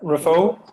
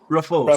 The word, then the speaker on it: Raphoe: Sorry, how do you pronounce it? Rafo, Rafo. So, Rafo.